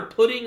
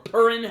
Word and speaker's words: Pudding: with her daughter, but her daughter Pudding, or Purin, however you want to pronounce it, they literally say it two different ways in the translation that I was reading